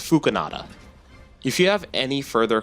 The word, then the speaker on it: Phookinada: know how to say the channel's name, it's Phookinada.